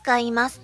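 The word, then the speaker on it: とは: When speaking in written language, use TOHA (Pronunciation is TOWA) Used together with plain form.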